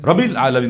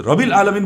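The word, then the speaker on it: رب العالمين: এখানে রব্বি শক্ত হলো না আলহামদুলিল্লাহি রব্বিল আলামিন উনি বলে রবিল আলামিন বললে উনি এটাকে দুইটা যে ডবল এটার উচ্চারণ করতে পারেন নাই এরপরে মদ সহ আর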